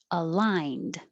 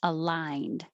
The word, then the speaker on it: aligned: 31 temporarily arbitrarily arbitrarily aligned i spelled that like lie but maybe that looks like leaned aligned delayed delayed annals annals